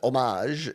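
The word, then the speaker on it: hommage: Homage in French is like homage. Our word just they don't pronounce H sound.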